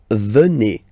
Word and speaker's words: venez: Then classic ending for vous, Z here, and then you pronounce it et, vous venez. Vous venez.